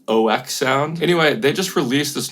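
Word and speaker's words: oeksound: I used to call them OEK Sound. And then I saw a YouTube comment that said it's supposed to be pronounced OK Sound.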